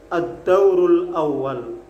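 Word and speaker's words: الدور الأول: Ad-Dauru al-Awwalu. Maka membacanya kalau disambung Ad-Daurul Awwal.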